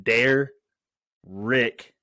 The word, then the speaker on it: Derek: So Derek, who wanted you to know that you pronounce his name Dare Rick, by the way, asked